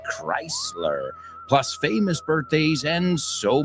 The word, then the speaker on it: Chrysler: now that we know it's not pronounced scler it's Chrysler plus famous birthdays and